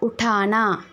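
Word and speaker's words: उठाना: தூக்குவது, மேலே தூக்குறது, அது ஹிந்தியில் உட்டானா. உட்டானா. பார்த்தீங்களா, அந்த ட நம்ம மாற்றுறோம், அதுதான் அந்த ப்ரொனவுன்ஸ் பண்ணுறதுல தான் இருக்குது, ஓகே.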